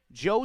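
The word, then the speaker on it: Zhou: Joe spelled Z H O U. Had to get confirmation on that pronunciation, but it's Payton Joe, the catcher for Portland,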